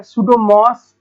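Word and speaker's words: Pseudomonas: तो पहला जो बैक्टीरिया है वो क्या है, जैसे पी, इसको पी तो साइलेंट हो गया, सुडोमोस पुटिडा।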